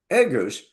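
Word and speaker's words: ἔγγυος: become the shity now the Greek word is e we would spell it e g g o u s egus which means guarantee well if you've got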